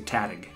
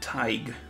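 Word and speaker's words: Tadhg: think a house well my first instinct wants to say tatig tag no okay got it tag it's cool name yeah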